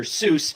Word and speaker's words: Seuss: that he just went with the anglicized version, Dr. Seuss, and that's what we call him today.